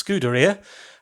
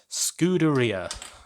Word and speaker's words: scuderia: I mangled last time, should be pronounced like pizzeria, so it's scuderia, and that means stable, which is very appropriate when you think of the black horse that represents Ferrari. So scuderia.